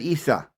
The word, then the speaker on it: Issa: They wouldn't have said Isus. They would have said Issa. That's how you would have pronounced his name in Arabic, Hindu, and Greek.